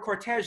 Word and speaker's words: cortège: The word cortège, like a lot of modern French borrowings, is pronounced in the French manner, and is probably confusing to a lot of English speakers.